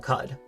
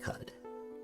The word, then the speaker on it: Qud: That's how you say Qud. There's no official pronunciation, but yeah, most of us say Qud.